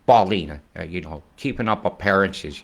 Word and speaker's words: Ballina: B-A-L-L is pronounced ball. Yeah, Ballina. It's Ballina. Ballina.